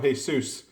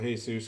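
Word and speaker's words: Jesús: as Jesus its way because i read this book and I kept calling hey soos I guess that comes from living in Arizona when I see that when i see Jesus's name I always pronounce the hey suits because all the friends I had growing up that were named Jesus were over is called that so until I saw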